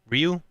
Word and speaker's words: Riou: Ryu.